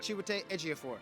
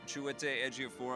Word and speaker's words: Chiwetel Ejiofor: Chiwetel Ejiofor. Chiwetel Ejiofor.